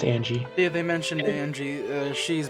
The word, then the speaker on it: Ange: It's pronounced. I believe it's pronounced Angie.